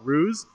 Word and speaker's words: Hruz: here with dr paul ruse um that is how you pronounce your name is that correct you told me uh yeah the h is silent silence so um paul